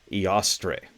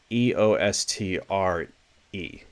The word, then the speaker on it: Eostre: don't pronounce this right ostre I believe that's how it's pronounced e o s t r e eostre right I could be